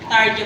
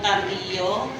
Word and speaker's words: Tarjo: Tarjo po, hindi po Tardio. Kasi ako rin po, nung muna ko makita yung asawa ko, Tardio rin ang bigkas ko sa apelido niya.